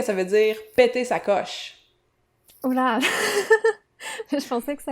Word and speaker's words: coche: Qu'est-ce que ça veut dire péter sa coche?